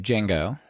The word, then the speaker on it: Django: takes a copy of Django and then slightly modifies it set up py and publish it under Django or Django or whatever like how you pronounce it without the J right so if people